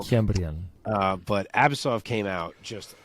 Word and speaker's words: Kiamrian: So I needed John Anik in this one because some guys were saying Kiamrian and some were saying Cameron, which is wildly different pronunciations. That can't be it. So, Kiamrian.